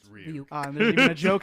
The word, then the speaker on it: Ryuk: It's Ryuk.